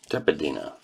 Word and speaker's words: Tepedino: Tepedino.